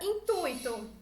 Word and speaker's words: intuito: Com a tonicidade da palavra tuito, certo? A sílaba tônica tuito mais forte.